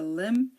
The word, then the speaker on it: limb: silent we have the limb num suum thumb tomb and womb we don't say Lim or num or suum or Thum or Thum or womb no the B is silent here pretend the B